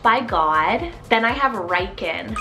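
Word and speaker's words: Ryken: variant meaning promised by God then I have reiken spell r-y-k-e-n reichen now names like Ryder or Riker those two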